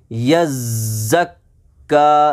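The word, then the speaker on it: يزكى: यज़्ज़क्का, यज़्ज़क्का, ज़ा में सख्ती है, सख्ती के साथ उसको पढ़ना है।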